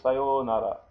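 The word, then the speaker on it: さようなら: You say sayonara. Sayonara. So you say sa, then you go yo, long O, and then nara. Nara. Sayonara. Now, this is sa, this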